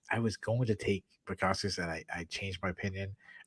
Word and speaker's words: Bukauskas: Tyson Pedro took on Bukauskas. I'm sorry, I know I butchered his last name. No, you got it perfect.